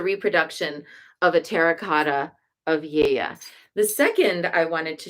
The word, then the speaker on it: Gaia: But no, actually, it's Yeya. So those are the two main things I wanted to share about this statue. One is that we've been saying it wrong all along. It's not Gaia, it's Yeya.